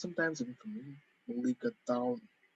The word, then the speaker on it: mulligatawny: Mulligatawny. Normally, if you're an English speaker, you would pronounce it mulligatawny soup. Tawny. Well, it's an anglicized version of the Tamil word for pepper water or pepper broth.